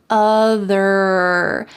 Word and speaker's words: other: So don't forget that hard R sound in the word greener at the end, and also in the word other. Having that strong colored R sound at the end of the word is essential in American English.